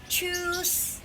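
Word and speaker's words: Tschüss: Cara bacanya ini, ingat ya, ini F-set. Jadi cara bacanya choose gitu.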